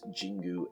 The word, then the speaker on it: Jingu: It's Jingu. It's a J, not a G, so it's Jingu.